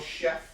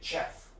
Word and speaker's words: chef: But you're spelling it with CH, which is the ch sound. So you think you would say chef. But just so you know, in English, a lot of words come from France. So in France, that's how you say it.